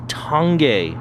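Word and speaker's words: Tange: and while we're on the subject of commonly mispronounced Japanese stuff this bike has tongue gay tubing and it's made in Japan that's impressive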